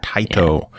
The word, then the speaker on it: Taito: Taito.